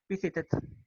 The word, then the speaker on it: visited: Suena un poco la T y se debe de oír la D. Visited.